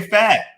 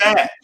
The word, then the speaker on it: Fett: But I want to say Fat. It's Fett. I want to say Boba Fett.